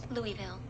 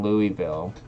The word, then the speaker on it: Louisville: I'm gonna find out how you pronounce that. Louisville.